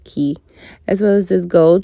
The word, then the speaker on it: Quay: of people pronounce those Quay but it's pronounced key as well as this